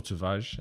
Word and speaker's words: Tavares: But in regards to what I think of Nuno Tavares, or Tavares, if I'm speaking in a more Portuguese pronunciation.